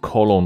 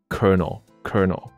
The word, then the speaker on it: colonel: 就会误以为它念成 colonel 还是不对什么的，但不对，它的发音很奇怪，就是 colonel。